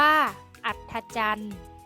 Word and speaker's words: อัฒจันทร์: วิวัฒน์ อ่าน ว่า วิวัฒน์ อัฒจันทร์ อ่าน ว่า อัฒจันทร์ คำ ใน มาตรา แม่ กด ที่ มี ต เต่า เป็น ตัว สะกด ออก เสียง เป็น เสียง ด เด็ก ได้